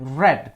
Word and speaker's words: read: Ini red bacanya, seperti warna merah, red.